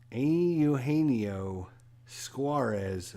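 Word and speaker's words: Eugenio Suárez: And Eugenio, our daily reminder of how to pronounce his name. Eugenio Suarez for the Reds.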